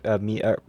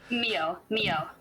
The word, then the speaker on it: Mio: turns around to see Mia. Sorry, how do you pronounce that? Mia or Mio? Mio.